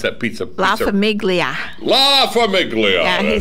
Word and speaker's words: La Famiglia: La Famiglia. Yeah, that's he said right. Pronounce the G. La Famiglia.